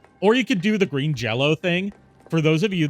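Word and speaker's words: Green Jellÿ: this really the is they spell their band name green jelly but they say it's pronounced Green Jello man I really do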